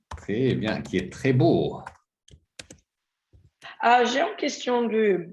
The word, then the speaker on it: beau: Donc d'abord la prononciation ici c'est O.